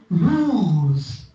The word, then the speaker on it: lose: is at the end at the end if you have voiceless sound then the length is less so loose is shorter then lose right so you can